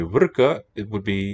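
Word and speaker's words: वृक: By the way, Vrka was in Vedic accented on the first syllable, but Deva would have been accented on the second.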